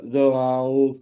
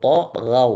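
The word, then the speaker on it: طغوا: Alladzina dza'u fil bilad. ulang allazi Alladzina dza'u fil bilad. kali lagi Pak. Alladzina dza'u fil bilad. Itu yang benar. Nataghaw, taghaw bukan za, taghaw.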